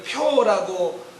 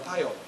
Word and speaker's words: 표: 학교에서 이름을 부를 때 저희 라스트 네임을 표라고 제대로 발음하는 사람은 거의 찾아보기가 힘들고요. 선생님들이 학교에서 부르는 대부분의 모르는 선생님이요. 처음에 부를 때는요. 파요입니다. 파요. 그런데 파요도 그래도 참을 것 같은데 종종은 포라고 부릅니다.